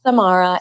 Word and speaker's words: Samara: as Forbes Riley said my name is Samara it rhymes with tamarrow but I'll get it